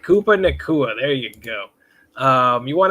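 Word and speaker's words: Puka Nacua: Koopa Nakua? Yep, you got it. All right, Koopa Nakua.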